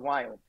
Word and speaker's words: Viome: a Healthcare company called wild and as an Indian a guy I cannot pronounce the word we so it's V as in Victor don't ask me why